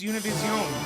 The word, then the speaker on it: Univision: Say it right. It's Univision.